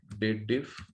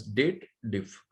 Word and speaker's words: DATEDIF: People pronounce it sometimes wrongly. They pronounce it as dated if. No, this is a date related formula. You must read as date diff, but it's a single F.